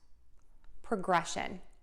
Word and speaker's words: progression: syllable, and then still stress syllable number two and end with shun when we see those two S's there. Okay, let's give it a try. So we have progress, progress, progressing, progressed, progression, progress, progress, progressing, progressed, progression.